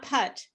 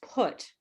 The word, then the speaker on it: put: book what put but it's not cut it's put what what but no